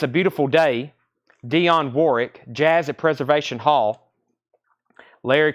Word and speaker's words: Warwick: anybody wants in still dropping that second war w and Warwick Dion Warwick Dionne Warwick Warwick well that's tough to say Warwick Warwick one syllable um anybody else anybody